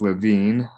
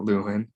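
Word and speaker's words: Lewin: introduce levine's conflict theory it is pronounced levine i'm not luin um the basic idea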